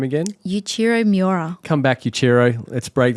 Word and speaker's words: Yuichiro Miura: Yuichiro Miura.